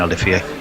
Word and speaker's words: Olivier: Pronounced his name right, like Dwayne Olivier.